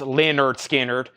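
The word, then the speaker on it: Lynyrd Skynyrd: is the next one the debut album pronounced Leonard skinnard I've only got one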